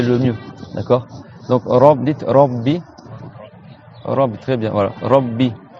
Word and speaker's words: Rabbi: Donc, dites Rabbi. Rabbi, très bien, voilà. Rabbi. Et on fait bien deux B.